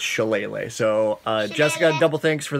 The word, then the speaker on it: shillelagh: use so much on is pronounced chalene Lee it was like shelah goorsha laggy but it's shillelagh so jessica double thanks